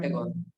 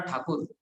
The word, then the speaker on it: ठाकुर: में इट was Rabindranath ठाकुर, बट क्या है कि इनको ठाकुर प्रोनाउंस करना नहीं आता था अंग्रेजों को, तो ये लोग ठाकुर को ठेकौर ठेकौर ठेकौर करते करते टैगोर हो गया, ठीक है ना, और